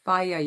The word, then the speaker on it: Fage: Then on top of that, I love Faya yogurt. I love my Greek yogurt. I love that brand. It's a little bit pricey, but it is delicious. It's spelled Fage.